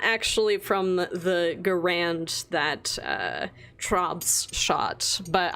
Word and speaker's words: Garand: clang when the mag pops out of the grand or garand i pronounce that wrong ever go rand every single